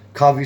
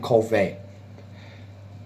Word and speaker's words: Covey: my name's by him Covey some would say but I like to pronounce my last name Cole Fay it's like being John